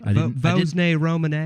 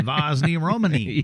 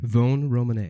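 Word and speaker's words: Vosne-Romanée: I'm glad that you've told me how to pronounce Vosne, because there's an S in that you don't pronounce. Vosne-Romanee. I did not know that. I was that guy, Vosne-Romanee.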